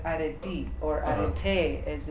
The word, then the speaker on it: arete: Of course, as a human, you are predisposed to develop, right, arete or arete as it's pronounced.